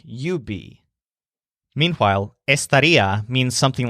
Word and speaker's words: estaría: Similarly, estaría can change to estarías, you would be, or estarían, they would be, and so on. But again, we won't worry about these extra forms for now. Just remember the stressed syllable ría, and the word estaría